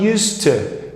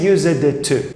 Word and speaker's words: used to: to have many friends attention here there's a linking sound used to you're not going to say used it to used to he used